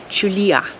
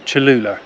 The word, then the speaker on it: Chulilla: It's Chulilla. Not Chulula, as I keep calling it. Or Tallulah, or anything similar.